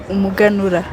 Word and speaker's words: Umuganura: Umuganura.